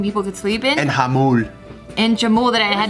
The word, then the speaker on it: Jamul: I thought it was Jamul, and then the fire department came, and they're like, "Oh, hello, this is the Hamul Fire Department." Hamul? Yeah. Oh, that's how you say it.